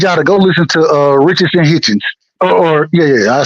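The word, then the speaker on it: Richardson Hitchins: Go listen to, and I would challenge y'all to go listen to Richardson Hitchens.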